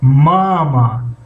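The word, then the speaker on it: мама: خب بین قوس ها دائم برای خواندن کلمه ماما نگاه کنیم. وقتی ادارینی که هست یک کمی هجای یکم از هجای دوم کمی بلندتر درازتر تلفظ کرده می شود. مثلا ماما اگر بگیم غلط هست. ماما نگاه کنیم اخیر کشیده میشه هجای دوم ماما.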